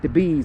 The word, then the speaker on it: DeBuys: So this is the Bees. It's, even though it's spelled Debuys, as in D-E-B-U-Y-S, it's spelled Debuys, but it's pronounced the Bees, and I think that may be French, and excuse my French.